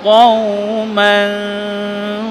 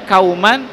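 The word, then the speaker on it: قوما: Ya, jadi harus begini cara bacanya. Qa, nah ya. Qauman, qauman, jangan qauman, qauman. Kalau dibaca kauman, maka sifat hurufnya hilang.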